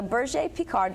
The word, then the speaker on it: Berger Picard: So it's spelled Berger Picard, right? But it's French, so we have to make it sound all right. So Berger Picard, this is a very ancient French herding breed.